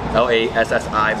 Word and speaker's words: lassi: So it's spelled Lassi. L-A-S-S-I, but people say Lassi.